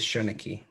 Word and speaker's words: Seanchaidh: The way I've heard it pronounced is Shoniki or something along.